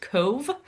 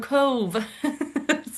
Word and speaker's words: Cobh: um, came to Cove, which is spelled C O B H but is pronounced Cove. Um, that was a little hard for us because we didn't know. We were calling it like Cobb or something and some